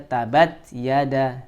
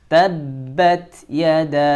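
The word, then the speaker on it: تَبَّتْ يَدَا: tapi yang betul adalah tabat yada. Yada. Di sini ada huruf mad ya, bertemu dengan hamzah, maka terjadi hukum mad jaiz. Bacanya boleh 2, boleh 4, boleh 5 ya, tapi harus konsisten.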